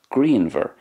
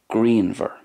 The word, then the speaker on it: grianmhar: in connacht then it's grianmhar and it's very very similar in ulster grianmhar so there's more of a v sound for the munster way grianmhar and more of a w sound at the end for the connacht and